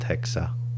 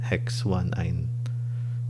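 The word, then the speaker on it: hex-1-yne: Okay, in this case, letter Y in nomenclature is actually pronounced like a vowel, so that's why we end our prefix hex with a consonant hex, not hexa, but hex 1-ine.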